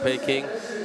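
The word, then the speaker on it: Peking: of Beijing, University of Peing. Well, it's Mano style and pronunciation. Peing Mo is the Mandarin style. Beijing Mo is the more international style of saying it.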